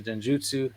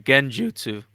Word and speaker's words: genjutsu: bro you killed him I keep saying it wrong again trying to say it's like the Jiff and GIF thing no this one is actually genjutsu yeah so he